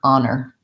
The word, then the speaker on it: honor: ah nur and it ends with the second syllable having the n sound and the vowel er honor if i were to write it in a